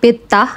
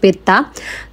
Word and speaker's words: Pettah: আচ্ছা এই মার্কেটটার নামের উচ্চারণ হচ্ছে পেত। আমি জাস্ট পেতা পেটা বলছিলাম এতক্ষণ ধরে। আসল উচ্চারণ হচ্ছে পেত্তা।